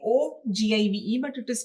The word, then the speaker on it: ogive: It is the name say OGIVE, but it is pronounced as ogive curve.